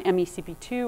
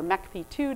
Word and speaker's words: MeCP2: for some time on mecp2 or Mech P2 depending on which side of of the uh us you're on how you say it um and just saying